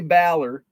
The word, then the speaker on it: Baller: So this is a Jay Baller. It's actually pronounced Baller, I learned.